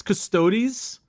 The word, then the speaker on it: Custodes: custos bricky right i i think it's custodies custodies because okay i always said custodes when i saw it because it's like it's spelled kind of funny right it is funny it's c-u-s-t which i can understand why we sound like custodes but i think with the